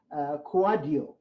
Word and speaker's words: Kouadio: And so his last name is pronounced Kouadio.